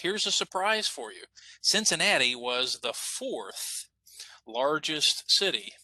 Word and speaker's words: Cincinnati: know that ohio and cincinnati had lots of germans living here living in columbus living in cincinnati living in louisville uh in fact cincinnati uh we used to pronounce cincinnati with a z zenzanetti so uh in this